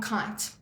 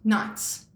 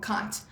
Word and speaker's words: Keight: But with the name Tom Keight, he couldn't stand how people pronounced our surname. And trust me, throughout high school, primary school, you name it, Right. my surname was always pronounced Knights or, something like that.